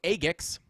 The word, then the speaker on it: AGIX: If you guys didn't know, that's how you say it. It is AGIX.